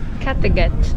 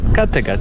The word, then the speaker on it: Kattegat: Kattegat. Kattegat. Ok, sueca. Eu tô pronunciando corretamente. Mas você tá pronunciando tipo em inglês, né, Sara? É. Eu tô pronunciando em sueco.